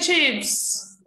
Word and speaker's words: chips: But chips is spelled like that. Okay, so with a short I sound.